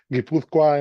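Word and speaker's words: Guipúzcoa: No está mal porque es difícil pronunciarlo, eh, pero guipuzcoa en español. Guipuzcoa también, solo que la en en vasco la la U no se pone se pone sin la sin la U.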